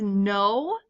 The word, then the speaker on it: gno: the next one is no the G is silent like a gnome but no means no